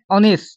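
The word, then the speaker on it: honest: অনেস্ট এন বয় an hour N এয়ার এনুকাকে উচ্চারণ যেন আমি তোমার একটা উদাহরণ দিয়া আছে অনেস্ট ইয়া এইচ ও এন ই এস টি অনেস্ট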